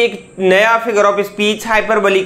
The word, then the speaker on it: hyperbole: में क्या बोलते हैं, हाइपरबोली बोलते हैं। दोस्तों, अब इसको आप बहुत सारे लोग हाइपरबोल बोलते हैं, जो कि बहुत ही गलत है। इसका जो प्रोनाउंसिएशन होगा वो है हाइपरबोली, यानी हाइपरबोली।